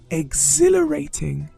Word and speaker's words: exhilarating: Exhilarating. The pronunciation is exhilarating. Seems like a long word. It is a 5-syllable word, and you have to lay stress on exhilarating.